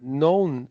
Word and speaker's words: none: Once again, the U is pronounced like the O is pronounced like the letter U. So in fact, it sounds a bit like the word NUN, which Yeah. is like None. you The know, the none. person who's in Yeah. the orders, the religious Yes. orders in a convent, a Mm. nun, and that's how you pronounce it.